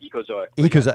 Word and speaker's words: Ecozoic: It's called Ecozoic.